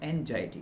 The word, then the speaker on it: anxiety: है समझना वो रखो, लेकिन इसका सही प्रोनाउंसिएशन है एंजाइटी।